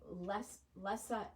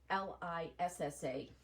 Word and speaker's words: Lissa: So that is Cakewalk by Lessa Alexandra. I think that's pronouncing her name right. It's Lissa.